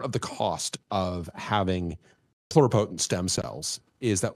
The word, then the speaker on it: pluripotent: Pluripotent? Am I pronouncing it?